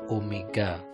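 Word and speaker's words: ω: Saran yang ketiga yaitu tentang kecepatan sudut atau kecepatan anguler yang simbolnya adalah itu seperti W tapi bacanya adalah omega.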